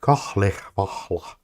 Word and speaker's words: Kalevala: It's always weird when this Kalevala thing, they always instruct to pronounce it with kahlech vahla, which is weird. It is quite weird. They added like 3 H's.